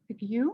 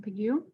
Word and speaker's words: Pigou: He was it's from an economist named Arthur Pigou, I think is how you say his last name, Pigou.